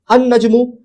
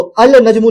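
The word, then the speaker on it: النجم: The star तो देखिए जब इसमें में अल लगा तो अल नजमु नहीं बोल रहे हैं। लाम प्रोनाउंस नहीं कर रहे बल्कि अन नजमु कह रहे हैं। लाम को स्किप कर दे रहे हैं।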